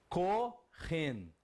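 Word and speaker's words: כהן: E qual a pronúncia que você tem? Kohen.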